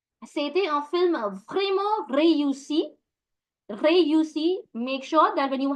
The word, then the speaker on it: réussi: Réussi, make sure that when you have E with an accent aigu, it gives you the A sound.